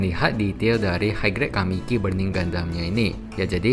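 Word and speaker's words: 神: Untuk bagian bahunya ini seperti begini ya, jadi ada tulisan Jepang, dibacanya itu kami, artinya Tuhan, atau bisa dibaca juga dalam bahasa Cina dibacanya Sen, artinya juga Tuhan.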